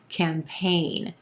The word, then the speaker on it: campaign: campaign two syllables here emphasis on the second syllable and the a is in gray vowel sound campaign that letter g in there doesn't do anything